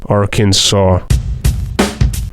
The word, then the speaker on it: Arkansas: decided the name would be spelled Arkansas but pronounced araken saw Missouri's name comes from the Sioux Tribe that